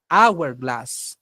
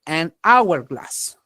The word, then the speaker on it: hourglass: aquí vas a decir an Our glass sí A pesar que la H es una consonante pero en este caso como es muda no se pronuncia sí an Our Class